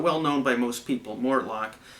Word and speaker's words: Mortlach: an obscure distillery called Mortlock or Mortlock I can't pronounce it properly I don't speak Gaelic I think it's more luck kind of on the end there you got a